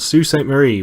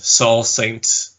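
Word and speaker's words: Sault Ste. Marie: zoo the zoo yep it's a place called sue st. Marie which literally no one has heard of the only thing I know about sue st. Marie is that it's not pronounced Saul st.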